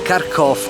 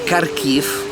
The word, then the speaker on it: Kharkiv: E finalmente sono arrivato nella città di Kharkov o Kharkiv, a seconda di come la si pronuncia, se in ucraino o in russo.